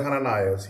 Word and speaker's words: Hanani: There is another Hananias here. Hanani is how you say it in Hebrew.